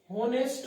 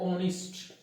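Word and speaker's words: honest: अब इसको बच्चा अपन होनेस्ट नहीं पढ़ते, पहली बात है ना, इसको पढ़ा जाता है ऑनेस्ट। क्या पढ़ते हैं इसको? ऑनेस्ट पढ़ते हैं।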